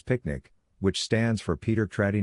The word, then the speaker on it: PQNK: PQNK, to be pronounced as picnic, which stands for Paedar Qudratti Nizam Kashatqari, and means, the Regenerative and Sustainable Pristine Organic Farming System.